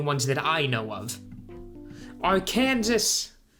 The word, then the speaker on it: Arkansas: that I know of Arkansas or Arkansas there's actually does anybody from Kansas Kansas there's anybody from Arkansas pronounce their state oh Kansas as a joke or do they just cringe whenever they hear somebody say it like that because I'd be curious